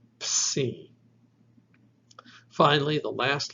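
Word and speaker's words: ψι: And this is a combination of P and S. Ps. The name of this letter is Psi.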